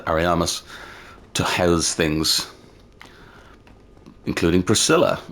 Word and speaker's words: Ariamis: Obviously painted by Ariamis, I think that's how it's said, Ariamis, to house things, including Priscilla, or the Abomination, as they say.